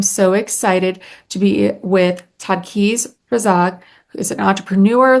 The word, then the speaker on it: Taqdees: I am so excited today to introduce Takis. Is that how I say your name correct? Takis Razak. Tak Takis. You just add the D in. You have it right. Todd Keys.